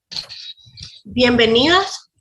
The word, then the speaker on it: bienvenidas: No pronunciamos una N así, nasal, alveolar, sonora, sino que la pronunciamos bilabial.